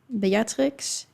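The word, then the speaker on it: Beatrix: But I was like, if you want to know how they would be pronounced in Dutch, it would be Ulana, Batrix, and Marit.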